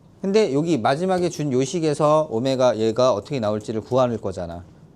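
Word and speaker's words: ω: w라고 읽지 말고 뭐라고 읽자고? 오메가.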